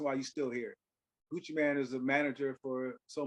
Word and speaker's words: Gucci Mane: Gucci Mane to perform Gucci Mane not man but his main m-a-n-e that's how you I saw you say his name how you spell his name how you pronounce his name Gucci Mane so Gucci Mane had a